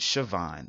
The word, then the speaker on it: Siobhan: she pronounced it Siobhan like SH a vo in an e I